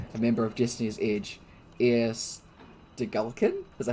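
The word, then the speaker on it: Eir Stegalkin: Air Stegulkin?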